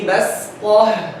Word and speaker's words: بسطة: But the Sad in Hafs narration is silent and you pronounce it with a sin.